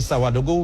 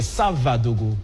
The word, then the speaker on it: Savadogo: Parce que là, quand j'avais dit Sawadogo, vous m'avez tout de suite repris, c'est Savadogo, plus précisément.